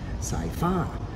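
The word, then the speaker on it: สายฟ้า: the tones in Thai, Sci-Fi is how it's supposed to be pronounced, because the second syllable, the fa part, has the falling tone, so it's up high.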